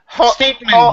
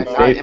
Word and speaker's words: Statham: You mean Statham. Am I not pronouncing it right? Do I sound like a robot? Statham.